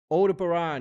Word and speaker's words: Aldebaran: Aldebaran is how it's pronounced.